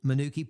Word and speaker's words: Manuka: Manuki Manuki Park. That's exactly right. Hey, we're going we're going to convince everyone that's the right way to say it because that's the way the folks up north say it.